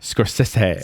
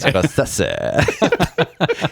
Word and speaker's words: Scorsese: Scorsese. Scorsese.